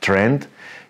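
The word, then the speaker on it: Triend: asked him last time how you pronounce it it's Trend even if it's written t-r-i-e-n-d and what they're doing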